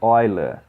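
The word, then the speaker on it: Euler: expressão matemática que chama relação de óia chama a pronúncia hora porque se um cara apesar de o matemático suíço tem o nome de origem alemã número diversas mas o número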